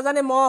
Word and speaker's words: জন্ম: ঠিক আছে, ঠিক একই সাথে এবার জন্ম, তাহলে কি হবে স্যার, জন ম।